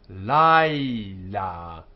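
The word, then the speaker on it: לַיְלָה: Kara laila. Laila. So kara laila. Night. Laila. Because the accent is here on the la.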